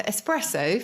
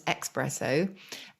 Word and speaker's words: espresso: So espresso, famously mispronounced as espresso, I think because people think it comes to you quickly or it comes out of the machine quickly.